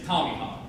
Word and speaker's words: Tomahawk: to point out that the correct pronunciation of that is Tomahawk. There's an A in there, but it shouldn't be.